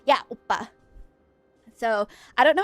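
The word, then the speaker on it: 오빠: Yeah, oppa. So I don't know how it's spelled. Some people spell it O-P-P-A or O-B-B-A. The syllable could be a P sound or it could be a B sound.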